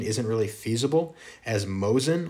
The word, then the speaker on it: Mosin: isn't really feasible as mosin or mohsen is a russian name and nagant or nagong